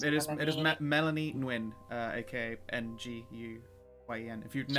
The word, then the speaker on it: Nguyen: If anyone has seen that surname, Okay. that's how that's pronounced.